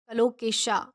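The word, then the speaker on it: colocasia: English में कलोकेशा कहेंगे, क्या कहेंगे, कलोकेशा, इसका प्रोनाउंसिएशन वो जो है वो है कलोकेशा।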